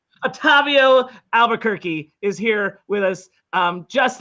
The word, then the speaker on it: Albuquerque: Albuquerque. It is exactly like the city. Otavio Albuquerque is here with us, just like the city of New Mexico.